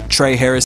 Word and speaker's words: Trehy Harris: okay yeah uh i'm on i'm on instagram trey harris is the name let me spell that for y'all cause i got a crazy